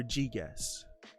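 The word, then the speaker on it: Gyges: g yi guess or g guess gear g love this chapter this is like g not j so g g guess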